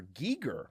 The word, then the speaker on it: Giger: The I in HR Geiger's last name is pronounced with a long E rhyming with eager like Giger.